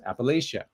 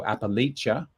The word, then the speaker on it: Appalachia: isn't bad appalachia uh or you can pronounce the a as in face appalachia yeah and apparently there's either appellate and you can either you have a hard ch like china so appalachia or appalachia with us